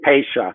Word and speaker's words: Pasha: one yeah it's uh it's actually pasha it's it's it's called it's spelled tasha but i know george paige before and he would tell you it's pasha okay yeah okay because